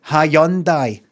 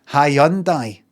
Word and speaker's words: Hyundai: They themselves said Handai. Handai. Hyundai. And then they bring a advert about a year ago saying, "You may have been saying Hundai wrong."